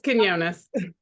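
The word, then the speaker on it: Quiñones: And so finally we have Miss Felicia I can't pronounce it. Come on, help me out. It's Quinones. Quinones, thank you.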